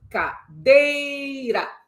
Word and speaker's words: cadeira: A palavra cadeira, cadeira. Você percebeu que há uma sílaba tônica no DEI? Cadeira. Sobre essa sílaba tônica, você encontra algum sinal agudo, circunflexo ou grave?